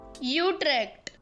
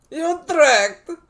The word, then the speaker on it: Utrecht: a dutch guy saying you trek for god's sake how do you say it i know it's not that utrecht you're tracked yeah that's the one that's the official pronunciation sorry netherlands i'm gonna